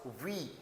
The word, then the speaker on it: huit: So here h u i t and what it sounds in the French, it sounds we. Although I have written here a small th here for the sound of th, but when we when you listen it from the listening then there's no sound of th, it just simply say that we.